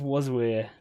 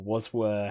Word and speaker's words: Waswere: So when I tell the story, you'll figure out how it's pronounced. But basically, originally, it was something like 12-year-old me came up with like Waswere you all, like where are all of you guys?